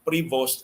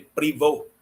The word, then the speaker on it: Prevost: So, kung French kuno kining Prevost, ang pronunciation ni Prevost. Pero Amerikano man siya, so Prevost ang pronunciation sa iyang apelyido.